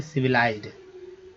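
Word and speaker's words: civilized: सिविलाइज्ड, वी से वी, LI से लाई, लाई पढ़ेंगे, ली नहीं पढ़ेंगे। यहाँ पर आई का उच्चारण आई के तरह हो रहा है, ठीक है।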